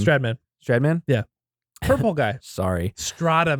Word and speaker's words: Stradman: Strataman, I think is how you say his name. Stradman?